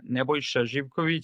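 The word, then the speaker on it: Nebojša: My full name is Neboshiv. It's like Serbian name.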